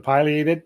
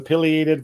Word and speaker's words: pileated: People ask about the pronunciation of the pileated versus pileated woodpecker. If you've heard me before, I talk about the name of that crest on that woodpecker is scientific name is called a pileum.